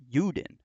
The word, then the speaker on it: Juden: If you look at the German word for Jew, it's actually Juden, and it begins with a J, but it's pronounced with a Y sound, Juden.